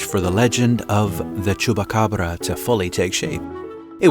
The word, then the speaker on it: Chupacabra: It's Chupacabra.